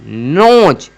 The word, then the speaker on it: nose: Last में अगर ई रहे, लास्ट में अगर ई रहे तो उसका कोई ई का जो है कोई भी उच्चारण होता ही नहीं है, ई का कोई भी उच्चारण नहीं होता है।